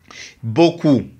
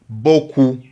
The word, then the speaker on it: beaucoup: Beaucoup. Et A-I, ça donne le son O. Beau. O-I, ça donne le son OU. Beaucoup.